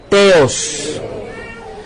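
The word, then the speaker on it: θεός: Pronuncie conmigo con T, Teos.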